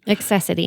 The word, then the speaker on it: Accessity: Is that how you pronounce it? Accessity.